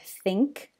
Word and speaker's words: think: example is the word think because we don't pronounce it thin we actually say it like thing + thing but since we're looking